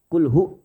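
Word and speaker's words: هُوَ: Kalimat hu, itu kan domah. Jangan sekali-kali baca panjang. Kul hu, enggak. Kul hu.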